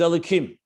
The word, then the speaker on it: Elokim: cave of k but the nukuda how you pronounce it is elokim not hawaii because going back to